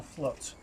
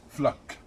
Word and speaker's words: Fluck: Diana Flut. Fluck. Fluck. F L U C K. And Diana is spelled D for Diana, I for ha, A